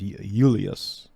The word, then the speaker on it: Julius: Caesar Julius is pronounced ulius all right there's no there's no J in the Latin or there a c